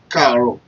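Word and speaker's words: Káàárọ̀: If you use it this way, like Poor, Karo, simply means poor, good morning. I believe you understand what I'm trying to do here. So the word Karo is just 5 letter words.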